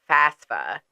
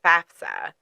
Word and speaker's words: FAFSA: but a lot of people say fasta F roll better that way Z is raising his hand me I say fasta right it works phonetically better but it is FAFSA right and FAFSA and